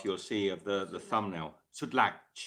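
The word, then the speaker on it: Sütlaç: Sutlac. It looks like a C, but they pronounce it here in Turkey.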